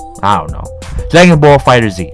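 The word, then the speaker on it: Dragon Ball FighterZ: plays this next game Dragon Ball Z fighters and oh man Dragon Ball Z fighters Oh Jackie fighter Z I don't know Dragon Ball fighter Z okay that's the right way to say anyway this game has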